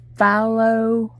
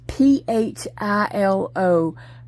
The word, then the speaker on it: Philo: I was saying Fahlo. He was asking like how to pronounce that. It's Philo.